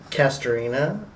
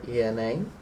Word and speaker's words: Castorena: So can you tell me your name and spell it out for me? Yeah, your last name? Castorena, Castorena.